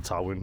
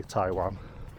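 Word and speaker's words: Towyn: They like to call it Tawin, but in English we say Taiwan.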